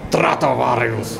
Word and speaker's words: Stratovarius: How do you pronounce in Stratovarius? Finnish. In Finnish is Stratovarius.